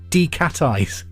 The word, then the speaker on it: decatize: Decatize. Maybe I've been pronouncing it wrong. It's number 4, D-E-C-A-T-I-Z-E. It's decatize, or I suppose it could be decatize.